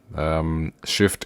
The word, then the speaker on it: Shyft: So yeah, like guys, if you can get the Shift app, so Shift is spelled SHYFT, from the Play Store.